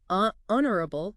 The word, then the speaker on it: honorable: Honorable. Did you catch that? The H is silent. Right. So we go straight to that O sound. And of course, the stress is on that first part, honorable.